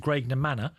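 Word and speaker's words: Graiguenamanagh: The nearest village to me, you try spelling it, is called Graignor Manor. It's a beautiful... I love those Irish spellings that are nothing like the way it's pronounced.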